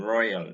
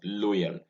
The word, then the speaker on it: loyal: y in loyal in royal this is not loyal many nigerians pronounce this word as loyal using in place of oi the sound here is oi and not o and so it is